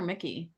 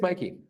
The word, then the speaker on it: Mikey: Anora played by uh do you pronounce her name Mikey or Mickey I I it's Mikey okay Mikey Madison um